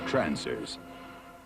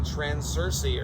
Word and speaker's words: Trancers: Trancers. And they even made like 5 sequels, but the original one is the best one. I apologize, I got the name wrong. I thought I said Transursi earlier, I think I said.